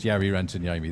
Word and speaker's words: Jari Rantaniemi: It rhymes with ferry across the Mersey, and it's Jari Rantaniemi.